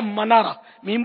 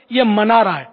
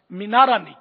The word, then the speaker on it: منارہ: بولتے ہیں ہم لوگ، ہے منارہ، میم پر زبر آتا ہے، منارہ، زنہ بھی بولتے ہیں اس کو. بہرحال یہ کہ وہ لفظ تلفظ صحیح جو ہے نا یہ منارہ ہے لغت کے اعتبار سے، مینارہ نہیں.